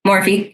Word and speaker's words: Morphe: It's by Morph. I think that's how you say it. Morph. There might be an E on the end. Morphe, yeah.